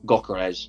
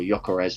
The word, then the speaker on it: Gyökeres: It's Victor Gyökeres, or Gyökeres, however you want to say his name.